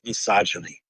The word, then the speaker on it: misogyny: Am I pronouncing that right? Yes. Grabs with misogyny.